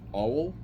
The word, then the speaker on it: Auel: I think her name is pronounced Auel, A-U-E-L.